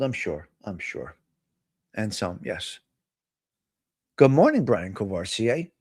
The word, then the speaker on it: Anselm: Saint uh Anselm, not Enzo.